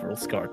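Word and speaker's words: Rouxls Kaard: Yeah, his name is just rules card. It's pronounced rules card.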